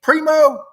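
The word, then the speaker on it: Primeau: P primo is uh is that how you say it? Primo. Um yes. That's spelled P R I M E A U.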